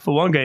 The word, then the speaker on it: Fuaga: Network somebody one of the commentators said fonga in an interview and his face lit up he was so excited and he's like yes finally somebody gets it right the N is there Polynesian pronunciation tiis